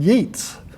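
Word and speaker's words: Yeats: someone well I really would like to read yeets haa and Rainer marioa must be a woman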